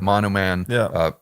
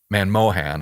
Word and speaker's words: Manmohan: Remember the moneyness that that Monoman, Manmohan, I always mispronounce his name, Manmohan Singh talks about, right?